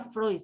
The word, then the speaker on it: Freud: Alguien dijo Freud, se pronuncia Freud, chicos.